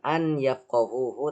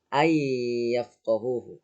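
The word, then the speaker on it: أن يفقهوه: Jadi dibacanya bukan an yafqahuhu tapi ay ya. Ay yafqahuhu. Dan jangan lupa ditahan selama 3 ketukan ya.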